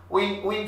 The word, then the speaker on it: un: J'ai un roman. I have a novel. J'ai un roman. Un. Nasal accent. Un.